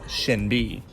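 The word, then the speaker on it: SinB: one as mentioned before while there's no H visible it does have an SH sound therefore it's Shin B while not a group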